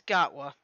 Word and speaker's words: Gatwa: I forgot how to pronounce the guy's first name. It's Gatwa.